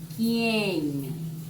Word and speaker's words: quién: Quién veut dire en français qui. Ici, on prononce quién. Quién.